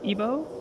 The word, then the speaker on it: Igbo: feel like an idiot so your tribe is pronounced IBO you don't pronounce the dude no you're the